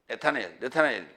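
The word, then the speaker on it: נתנאל: 이 나다나엘이라는 단어가요. 네타네엘 그렇게 발음하는데 하나님이 주셨다.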